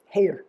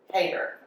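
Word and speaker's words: Heatter: Hater. Hater. It's spelled like heater with two T's.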